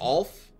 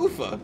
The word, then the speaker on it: Ufa: Oh, is it Alf? Am I mispronouncing this? Where was that? No, Ufa.